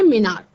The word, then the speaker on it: menarche: तो first menstrual cycle को मिनार कहते हैं बच्चों। इसका स्पेलिंग है MENARCHE। क्या कहते हैं? मिनार।